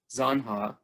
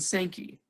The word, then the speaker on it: Zanja: i would say that there are only two correct ways to pronounce the name of this stream zanha and sankey and i will use